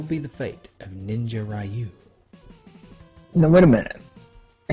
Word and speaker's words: Ryu: Dragon Sword is defeated kin's son Ryu or youu or rayu or however you pronounce it I'm going with rayu I like rayu but I'm pretty sure it's like Ryu anyways kin's son rayu